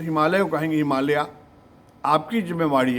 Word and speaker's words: हिमालय: बुजुर्ग ऐसा है कि इसका नाम हिमालय है कभी कहेंगे नहीं लोग आ रहे हैं और आप भी उनके साथ उनकी चमचागिरी में हिमालयाज बोलेंगे तो कैसे चलेगा आप सुधार लीजिए लॉर्ड